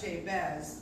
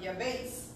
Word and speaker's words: Jabez: And so I want to open up with We Americans, we say the prayer of Jabez, but it's actually the prayer of Yabez. The name is pronounced Yabez. Amen.